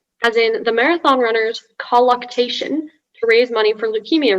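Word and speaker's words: colluctation: striving or struggle as in the marathon runner's colloctation to raise money for leukemia research won the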